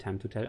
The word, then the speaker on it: TiiMe2tell: PS, mein Name wird Time to Tell ausgesprochen.